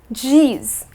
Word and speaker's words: geez: You can use words like, Jeez or Geez, spelt either way, either with a J or with a G and pronounced as geez.